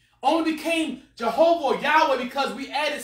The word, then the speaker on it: Yahweh: pronounce it with because actually why HW I'm pronounced some more like Yahweh amen hey people writing and saying why do